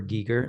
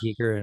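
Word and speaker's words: Giger: it's beautiful though it's super like super Geiger like Geer pronounced but yeah so it's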